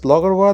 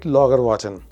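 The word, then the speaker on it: Laugarvatn: Logarwa, and this is funny because Logarwa, the way it is pronounced and the way it is spelled is different. So we were calling it Logarwatan because that's how it is spelled. But later on, we found out that it's called Logarwa.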